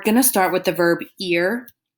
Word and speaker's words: ir: start with the verb ear it is pronounced ear like the ear on your head but it is spelled IR so the verb ear